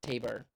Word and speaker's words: Tabor: Maybe that's why it's called Taber because it's supposed to rhyme with labor. I'm still going to call it Tabore.